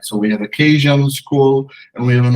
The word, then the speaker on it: Keynesian: Oh, Keynesian. Yeah, excuse me, my pronunciation is bad. Keynesian school of thought that.